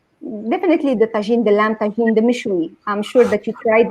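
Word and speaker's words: mechoui: I thought it's meshway, or how do you pronounce it? mishui, mishui. Mishwi.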